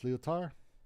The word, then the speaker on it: Lyotard: I don't have to pronounce the D at the end. It's Lyotard. Really? I did not know that. Yeah, a lot of words. The last few letters you don't have to pronounce them in French.